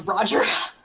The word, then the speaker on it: Rhogar: It's Roger. Silent H.